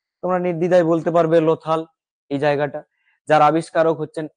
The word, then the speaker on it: লোথাল: আমরা নেক্সট স্লাইডে যাই লথাল এই স্পেলিংটা একটু ভুল আছে লোথাল ল এ ওকার থ আকার ল লথাল সভ্যতা কাটো লোথাল বানানটাকে